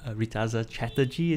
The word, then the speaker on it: Reetaza Chatterjee: we have a great show for you today ritas chatterjee is here did i pronounce that right that's right fantastic phew but